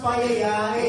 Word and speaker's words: paella: They want pizza de cepayela, they want pizza de cepayela, ella, it's pronounced paella, Oh, get it fucking right, ladies and gentlemen.